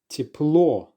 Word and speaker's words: тепло: Here's the next word, teplo, teplo. Now you have a go at pronouncing this word.